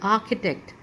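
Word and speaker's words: architect: लिखा है यहां पर सीच की साउंड आपको जैसे मोस्टली सिखाई गई है कि च साउंड होती है लेकिन इसके अंदर आपकी साउंड ख के साथ निकलेगी की साउंड इसके अंदर निकलेगी आर्किटेक्ट आर्किटेक्ट ओके सी य पर मिसिंग हो गया आर्किटेक्ट ओके जैसे कि स्टमक स्टमक सीच में यहां भी आपकी साउंड जो होती है वह क की तरह निकलती है स्टमक है ना ऐसे आर्किटेक्ट आर्किटेक्ट ठीक है नेक्स्ट जो वर्ड है ये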